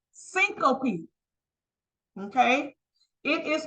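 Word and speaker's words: syncope: in your book on page 34 it is pronounced syop okay it is pronounced syop s y n c o p e what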